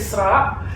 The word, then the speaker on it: Esra: But Her name is Isra. But people call me Ezra. I don't know why or how. There's an S in my Because name. it's spelled like that. ESRA.